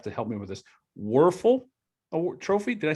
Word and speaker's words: Wuerffel: In his senior year, Joel received the prestigious, and you may have to help me with this, Wuerffel Trophy. Did I say it right? Danny Wuerffel, yeah.